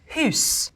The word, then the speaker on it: house: sounds like is to take all vowels and pronounce them as you would in French and pronounce every letter. The word for wife would be pronounced weef. The word for house would be pronounced hus. The word knight, knicht.